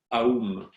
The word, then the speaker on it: Aum: En fait, on ne dit pas M dans le sanskrit, c'est le M. C'est cette syllabe avalée de cette manière. Donc, on pourrait presque dire que le vrai mantra, ce serait Aum, Aum, Aum.